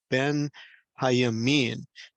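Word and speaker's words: בנימין: You'll see as I'm circling this Hebrew in with my cursor here that Benjamin is really a compound word that is pronounced Ben, Hayamin.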